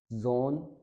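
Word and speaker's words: Sohn: वाले या फिर वॉवल, कोई भी अगर एस के बाद आ जाए तो हम इसको हमेशा जी की साउंड से पढ़ेंगे या जे की साउंड में पढ़ेंगे हम, जैसे जा, फिर जे, जी, जो, जू, जागन, जोन, जुड।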